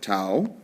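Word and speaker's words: τ: me write that here T Au is how we pronounce it too is the amount of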